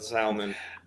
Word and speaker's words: salmon: and there you go you're a real if you pronounce the ellen salmon yo yeah brian cox